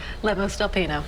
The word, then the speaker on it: Lemos del Pino: And Tessa Lemos del Pino. Did I say it right? Lemos del Pino, yes. Lemos del Pino.